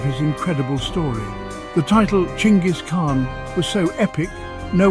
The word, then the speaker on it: Genghis: In Mongolian, it's pronounced closer to Chingis.